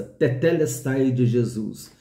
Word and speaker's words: tetelestai: Eu até brinquei com os irmãos, fala dedé, agora fala teté. Então a pronúncia é essa, tetelestai de Jesus.